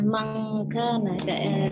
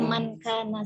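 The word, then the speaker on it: من كان: Jadi kita bacanya jelas saja Opung, nggak usah mangkana, bacanya mankana saja.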